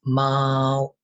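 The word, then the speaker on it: 貓: say cat in Chinese cat in Chinese is Mau Mau is tone one so we pronounce it like ma ma ma ma and dog in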